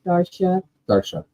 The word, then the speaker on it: Darcia: Oh, and Bryce Crochet, Darcia says she answers to anything phonetically. It's Darsha or.